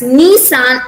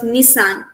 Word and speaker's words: Nissan: a japanese word ah it's because it's a japanese word we have to elongate on the knee on the beginning knee elongate on it and we have to pronounce it as nissan instead of nissan it's nissan so british